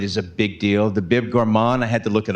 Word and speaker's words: Bib Gourmand: The Bib Gourmand, I had to look it up. I hope I'm pronouncing it right.